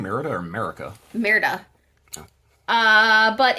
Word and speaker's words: Merida: It definitely feels like a Merida color. Merida color. I was putting an extra syllable in there. My apologies. Are you saying Merida or America? Merida.